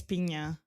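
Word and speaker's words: Pinho: But she is the Is it NH? NH, yeah. I think it's Pina. Pina, okay. It's like a NY kind of thing, I think.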